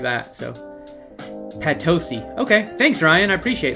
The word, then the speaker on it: Potosi: I mean, granted, I'll probably pronounce it wrong again here in a second, but I'm gonna remember. Potosi.